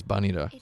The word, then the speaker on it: Vanille: Oh yeah, I realized that Vanilla, I'm going to call her Vanilla, because in Japanese her name is Banida, which is just vanilla, not vanille.